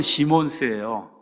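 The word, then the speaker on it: Simons: 자, 이런 와중에 누가 나오냐면 메노 시몬스, 우리나라 말로는 영어로는 시몬스예요. 근데 이제 이게 S를 발음하죠.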